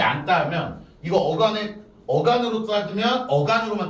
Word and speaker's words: 앉다: 그러니까 요거가 앞에 있는 게 지읒이 발음이 안 되죠. 그래서 안 요렇게 발음이 되는 거야.